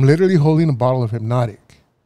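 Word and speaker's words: Hpnotiq: hypnotic yeah there's no why is there a c no it's a q see I wouldn't have known that either I mean it's in the so so the way it's spelled now is HP n o TI IQ okay yeah it's got you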